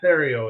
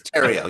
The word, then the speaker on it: Theriault: idea of who Theo is I got that Tero it's Tero yes the H is silent too the H is